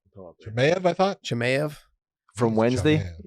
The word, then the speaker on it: Chimaev: Chimaev or Chimaev? Chimaev, I thought.